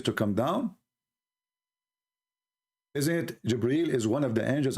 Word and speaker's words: Jibreel: It's not Gabriel, by the way, it's Jibreel. Even Muhammad, he got the name wrong.